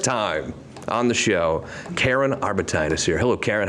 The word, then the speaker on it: Arbutine: on the show karen arbite is here hello karen how are you welcome to the show it's like valentine did i say it right just like that perfect all right i guess